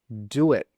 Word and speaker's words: do it: So we simply add a W between the do and the it. Do it.